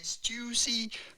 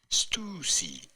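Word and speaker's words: Stüssy: Do not say Stussy, but rather Stussy.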